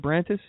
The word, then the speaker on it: Branis: your last name correctly is it it branis it's that's exactly how you say it yeah no one gets